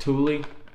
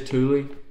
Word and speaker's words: Thule: I think it's actually pronounced Thule. So I apologize if I butchered that, but I think it is Thule.